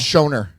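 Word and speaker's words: Schoenherr: quindry Shaner yes thank Shaner people struggle with Shaner cuz this isn't it it's shoner it's SP shoner yeah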